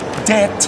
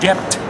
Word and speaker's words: debt: such rackers of orthography as to speak doubt sine be, when he should say doubt, det, when he should pronounce debt, D-E-B-T, not D-E-T.